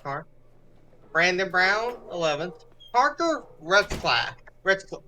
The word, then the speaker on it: Retzlaff: Parker Retzlaff. Am I saying that right? Parker Resloff? Rizloff. I knew I was saying it wrong.